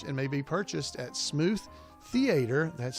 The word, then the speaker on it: Smoot: may be purchased at smooth theater that's spelled with a re dot com smooth it's s-m-o-o-t-h no it's smoot not smooth it's smoot s-m-o-o-t smoot theater i don't